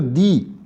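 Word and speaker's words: the: और वो जब इंटरव्यू दे रही थी बच्ची, तो उसमें वो आर्टिकल दी का बहुत ही ज़्यादा, दी या दा, इसको इस तरह से आप प्रोनाउंसिएट कर सकते हैं दोनों तरह से, तो वो उसका फ्रीक्वेंट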